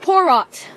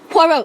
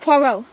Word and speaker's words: Poirot: a parrot for mr poor rot and poor i was like poirot it's pronounced poirot and the man's like